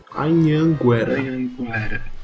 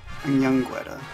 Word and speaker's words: Anhanguera: first one, which is Anhanguera. Oh, so it's Anhanguera? kind of. In English, we don't use the nose to pronounce some words. We use a lot in Portuguese.